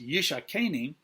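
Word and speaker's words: ישקני: This word, let him kiss me, in Hebrew is pronounced yishakeni, and it's a play on the word yashkeni, which means let him give me to drink.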